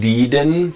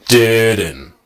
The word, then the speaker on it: didn't: with me didn't now notice that the D I not deeden but didn't right sound comes from here